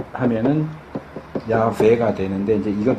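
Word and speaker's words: 야웨: 그러니까 이제 순복음이나 요쪽에선 이걸 이제 야회 이렇게 예 읽기도 하고 근데이 이름은이 발음은 틀려요. 왜냐하면 여기서 이렇게 끊어서 읽는 거거든요. 원래는 여기서 끊어야 돼요. 그래서 야, 외 발음으로 하면은 야외가 되는데 이제 이건 좀 복잡하니까 일반적으로 이렇게 읽어요.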